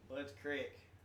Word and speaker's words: Budds Creek: Boods Creek. Bud's Creek. That's how you say it.